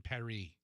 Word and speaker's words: Paris: and i heard that it's supposed to be emily in perry all the americans are pronouncing it wrong is that a